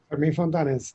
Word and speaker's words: Fermín Fontanés: Fermín Fontanés, am I pronouncing it properly? Fermín Fontanés, thank you.